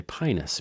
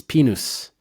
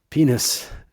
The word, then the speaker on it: Pinus: We don't know how to say the i in Latin which is pronounced e. It's penis. Penis.